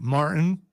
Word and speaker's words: Martin: people can't pronounce their T's, like Martin. No, there's a T in there.